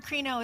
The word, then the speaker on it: krino: it's kind of funny so the word krino is spelled k-r-i-n-o it's the greek word for judgment and it means to